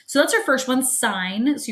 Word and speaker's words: sine: that's our first one sine so you pronounce it sine even though it looks like sin okay the next one